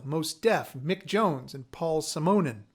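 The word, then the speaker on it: Paul Simonon: deaf mick jones and paul simonen which i found out is the right way to pronounce his name from the clash symphonia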